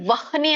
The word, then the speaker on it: ವಹ್ನಿ: ಅಂತ ಈಗಾಗಲೇ ಹೇಳಿರುವಂತದ್ದು ನಿಮಗೆ ಹಾಗಾಗಿ ವಹನಿ ಅಂತ ಹೇಳಿ ನೋಡಿ ನಿಮ್ಮ ಎದೆ ಮೇಲೆ ಕೈ ಇಟ್ಟುಕೊಳ್ಳಿ ಅಥವಾ ನೀವು ಹೇಳುವಾಗ ವಹ್ನಿ ಅಂತ ಹೇಳಿ ಎಲ್ಲಿ ಉಚ್ಚಾರಣೆ ಆಗುತ್ತೆ ವಹನಿ ಅಂದಾಗ ಹೇಳುವಾಗ ಹೊಟ್ಟೆಯಿಂದ ಬರ್ತದೆ ವಹನಿ ವಹನಿ ವಹನಿ